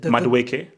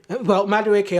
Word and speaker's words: Madueke: We've got how do I pronounce it? Madueke. Madueke.